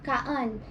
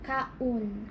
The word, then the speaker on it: kaon: You said kaan. It's O, so kaun. Kaun. Yes. So O is always u.